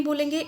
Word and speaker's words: बॉल: इसे ना हम बाल बोलेंगे ना ही बोल बोलेंगे, इस चंद्र के आधार पर हम इसका उच्चारण करेंगे बॉल।